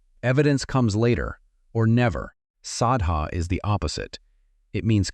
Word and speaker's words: saddhā: The poly word is sadha pronounced s ah da and it does not mean what you think it means.